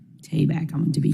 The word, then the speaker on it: Tabak: Tabak, I want to be correct.